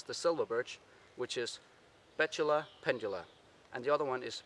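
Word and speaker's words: Betula pendula: its latin name is bachelor pendulum or as i would say when talking danish i would say bitule penduler in danish so that would be my pronunciation of this tree in this latin name now the identification of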